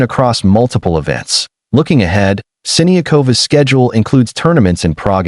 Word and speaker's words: Siniakova: On a lighter note, Siniakova settled a pronunciation debate, confirming that Siniakova is closer to the correct pronunciation than Siniova.